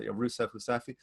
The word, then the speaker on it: Rousseff: so not only was doma rousseff impeached pronounced in portuguese but rusev um and uh that